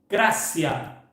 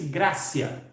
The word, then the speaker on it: gratia: Sola Gratia. Escreve-se gratia, mas pronuncia-se gracia.